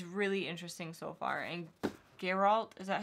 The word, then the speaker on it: Geralt: section but it's really interesting so far and Geralt is that how you say his name yeah garol is a really awesome character so far I